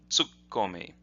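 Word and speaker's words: 突っ込み: contract these to become tsukkomi and if you listen you can hear the the the noticeable pause where the two K's are tsukkomi tsukkomi so that's a contraction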